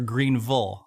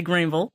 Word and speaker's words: Greenville: first woman and African-American and youngest mayor of Greenville, Mississippi, starting at age 27. But I have to first ask, did I pronounce that right? Is it Greenville or Greenville?